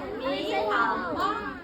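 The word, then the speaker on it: 你好: They go, I know, ni hao, ni hao, ni hao. And actually wrong. You're not actually saying it right. You gotta go down and up to say it right.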